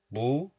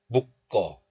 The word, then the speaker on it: 묶어: So this becomes 꺼, 꺼. So you can pronounce these words like 무꺼, 무꺼. But still, you can pronounce this letter like 묵, not 무, but 묵. So you can also pronounce these words like 묶어, 묶어. So 묶어 and 묶어, both are fine.